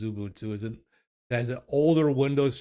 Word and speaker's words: Xubuntu: Xubuntu, it's with a Z, an X, pronounced Xubuntu.